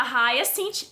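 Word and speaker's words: Hyacinth: da letra h da raia sinte eu chequei a pronúncia errar é sente mesmo que significa que significa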